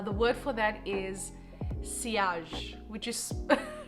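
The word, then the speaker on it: sillage: such great uh the word for that is siage which is it's spelled silage but i learned that it's pronounced siage it's a french word anyway which means that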